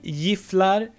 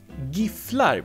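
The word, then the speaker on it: Gifflar: That this brand is very popular, and some people say giflar and some people say giflar, because it's spelled with a G.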